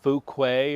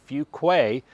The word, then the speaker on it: Fuquay-Varina: Not Fukuquay or Fuguay or whatever. It's actually Fugquay.